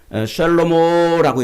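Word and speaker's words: שְׁלֹמֹה: 그래서 솔로몬이라는 말은 구약 히브리어로는 샬로모라고 이렇게 발음해요. 샬로모. 그런데 이제 신약 헬라어로는 솔로몬이라고 발음해요.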